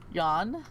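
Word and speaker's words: Jan: turn mute and catatonic yawn the crown prince it's spelled j-a-n but i'm just thinking that's what you pronounce that yawn yeah a noble prince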